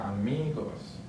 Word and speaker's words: amigos: Next one ends with an S, so the stress syllable is on the second to last. So right here, amigos. Next one ends with a